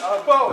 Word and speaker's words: Beau: Bo is mine. Bo, B-O? B-E-A-U, but it's pronounced the same.